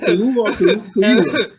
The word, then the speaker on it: Kaluuya: Hey, pronounce it Kaluuya.